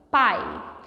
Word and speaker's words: pai: Pai. Percebe que quando você pronuncia a palavra pai, o I acaba saindo um pouquinho mais fraco que o A? Pai. O A soa um pouco mais forte.